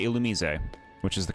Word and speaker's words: Illumise: I say Illumise, which is the correct pronunciation, which you would have known in the Gen 3 stream.